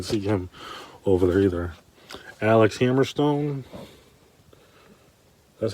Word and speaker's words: Alex Hammerstone: Alex Hammerstone, that's how you say it.